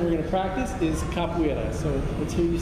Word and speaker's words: capoeira: But in Portuguese, Brazilian Portuguese, the emphasis is on the second to last syllable.